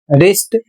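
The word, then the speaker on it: wrist: अगला शब्द है डब्ल्यू आर आई एस टी। इसे पढ़ा जाएगा रिस्ट और इसका अर्थ होता है कलाई।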